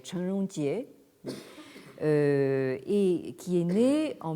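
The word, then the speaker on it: 陳榮捷: Si on le prononce donc en chinois standard, donc ce serait Chen Rongjie, et qui est né en 1901 et mort en 1994.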